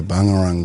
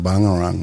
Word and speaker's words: Bangerang: So people will get confused up this way with bangarang or pangarang. But when you pronounce it traditionally it's bangarang. So if you go bangarang bangarang it sounds like a b or a p.